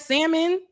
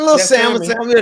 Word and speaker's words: salmon: looking great in that salmon I know salmon I said don't pronounce that L did I did I pronounce the L don't yes you did